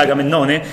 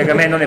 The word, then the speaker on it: Agamennone: Sì, che pronuncia Agamennone invece che Agamennone, perché poverino.